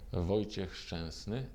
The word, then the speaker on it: Wojciech Szczęsny: Wojciech Szczęsny. Yeah, that's my goat. Barcelona, baby. Which is the correct pronunciation of your name? Wojciech Szczęsny.